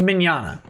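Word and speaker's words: Mignogna: expertise um if you're vic manana rhymes with lasagna all of that stuff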